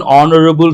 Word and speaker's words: honorable: here you have to h is silent then you have to use I think you have done correctly he has inherited an honorable status from his father people Say honorable is not correct.